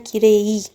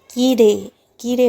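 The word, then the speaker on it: きれい: अच्छा, इसका जो प्रोनाउंसिएशन है कीरेई नहीं होगा, कीरे कीरे होगा। रे पे थोड़ा इलोंगेटेड, इसकी लंबा खींच देंगे इसको प्रोनाउंसिएशन को, कीरे।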